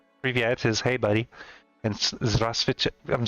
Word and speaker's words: здравствуйте: Здравствуйте or привет, depending on if you want to be polite or not. Привет is hey buddy, and здравствуйте, I'm saying it wrong.